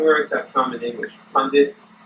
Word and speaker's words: pundit: Pundit. Now the word pundit is Pundit. P-U. In India we say Pandit.